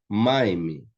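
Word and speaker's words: מים: Maime, água. Né? Maime, água. Então, maime também, a tônica é a primeira sílaba aqui, a primeira consoante, né?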